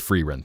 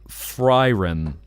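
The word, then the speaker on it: Frieren: Because I think Freirun, if it was German, you'd swap the vowels.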